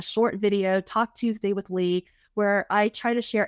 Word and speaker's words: Ly: And so that Facebook group is called Speaking Confidently with Lee, and Lee is spelled L-Y.